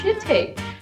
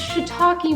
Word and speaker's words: shiitake: And so we asked the waitress, we're like, what's a shit take? And they're like, oh, it's shiitake mushrooms. Oh, that's how you pronounce that.